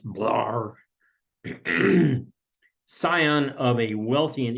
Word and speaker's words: Blair: of newspaper editor Francis Preston Blair the time pronounced blur Sion of a wealthy